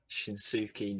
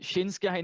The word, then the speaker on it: Shinsuke: some very interesting stories could I please have shinuki Nakamura if you say his name right shinsuke Nakamura I don't know it's spelled like that shinsuke mixed up with the